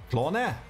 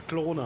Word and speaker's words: Klone: Ich dachte, das heißt Klon. Ach, oh Gott. Nein, das, oh Gott. Klone. Jetzt sag ich doch Klone. Ja, Klone heißt das.